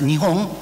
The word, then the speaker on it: Nihon: They can be read as Nihon or Nippon. So both pronunciations are officially allowed in Japan.